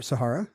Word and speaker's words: Sahara: all the time yeah the Sahara or Sahara as some people some Sting would say some more educated people would say it's still growing it's